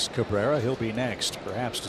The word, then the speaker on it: Cabrera: It's Cabrera. Didn't mean to say Genesis. It's pronounced Cabrera.